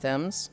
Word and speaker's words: Thames: Thames is pronounced Thames.